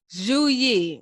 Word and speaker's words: Zhu Yi: Zhu Yi, that's how it's pronounced because I listened to it.